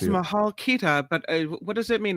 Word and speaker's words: Mahal kita: Yeah, Mahal Kita.